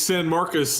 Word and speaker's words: San Marcos: it correct him level how do you pronounce it it's San Marcus and this is the